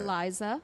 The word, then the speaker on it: Iliza: Her name is I want to say Iliza. So how do you say that? Eliza.